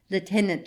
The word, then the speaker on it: lieutenant: of my brother's promotion Lieutenant Shanks readers note Lieutenant is the Royal Navy pronunciation back to my text